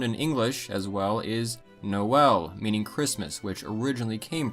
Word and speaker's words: Noël: Another example found in English as well is Noël, meaning Christmas, which originally came from French. In French, there is an umlaut over the E, indicating both vowels are pronounced, so it's not Noël.